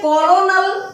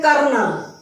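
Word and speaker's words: colonel: बेटा ये कॉलोनल बनता है देखने में बट ये स्पेलिंग है कर्नल कर्नल कहीं से नहीं लगेगी ऐसे ही ये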